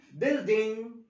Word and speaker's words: building: building building، والاي ان جي يا اولادي اول لما اشوف اي ان جي مش هنطق فيها جي، يبقى اقول building building يعني مبنى.